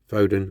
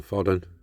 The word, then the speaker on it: Foden: The rest of the riders under the axle foden or foden is how you pronounce it.